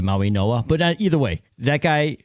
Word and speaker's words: Mauigoa: Maui, I think it's pronounced Noah, by the way, Maui Noah.